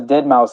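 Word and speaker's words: deadmau5: refer to him as dead mous is the the right way to um say his name is dead mou yeah well I mean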